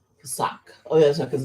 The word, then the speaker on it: Pesach: the sacrifices for your brethren, and keep the pakah. Ooh, I'm saying it wrong. I've been saying it wrong. Pesach. Pesach.